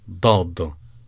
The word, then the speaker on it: ضاد: Dad is a very gruff sound, and it's pronounced by pressing the tip of your tongue to the front cavity behind your upper teeth. It's a very gruff sound, dad.